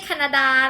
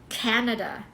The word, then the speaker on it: Canada: มา Canada can แา ไม่ ใช่ แคนาดา นะ การ ที่ เรา ออก ภาษา ไทย เยอะ เกิน ไป มัน ทำ ให้ เรา อ่ะ stress ผิด ตำแหน่ง นะ คะ Canada Canada แต่ เวลา ที่ เปลี่ยน เป็น